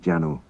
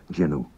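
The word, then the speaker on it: jannoo: It looks like Janu, and at one time it was Janu, and I have actually heard it pronounced Janu by certain native speakers, but it's now pronounced by everyone Jinu.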